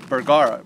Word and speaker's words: Bergara: This is my first Bergara. Am I saying it right? Bergara, yeah.